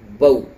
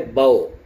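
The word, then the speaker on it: بَوْ: میں نہیں نکالیں گے۔ جیسے با زبر با، واو ساکن بو، یہ صحیح تلفظ ہے، صحیح پروننسیشن ہے۔ غلط کیا ہے؟ باؤ ہے، وہی او جیسے ہندی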